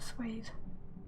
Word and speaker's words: swathe: Unless maybe it's an American English thing, but I think it should still have swathe, an E on the end. Some people do pronounce it swath, but no, it's a swathe.